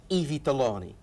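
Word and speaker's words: I Vitelloni: It's always I Vittelloni, which you coached me on pronouncing correctly, I have to admit.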